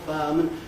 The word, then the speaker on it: fireman: So I practically lose the I in fireman, and I practically lose the U in powerful. Not our, but powerful, fireman. Those smoother pronunciations are the normal ones.